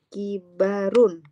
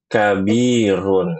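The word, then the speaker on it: كَبِيرٌ: Kibarun. Enggak. Kabirun.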